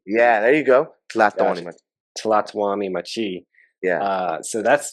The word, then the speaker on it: Tlatoani Machi: little bit about the I don't want to pronounce it wrong. Tlatoani Machi. Tlatoani Machi. No. Tla. Tala. Yeah, so Tlatoani. Tlatoani Machi. Yeah, there you go. Tlatoani Machi.